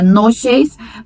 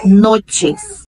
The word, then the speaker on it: noches: Com observação aqui, com o CH, né? Em espanhol se pronuncia T. Buenas noches. Tem esse som, né? Em português seria noches, mas em espanhol, noches. A maneira informal, né, de